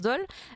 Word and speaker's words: Dole: antoine dole je perds ça se prononce dole et la dessinatrice matteau